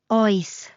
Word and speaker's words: Oes: palm and ask o like a friendly detective checking the fridge at midnight. When in doubt, make your choice. Just ask out loud. O. It even rhymes with choice.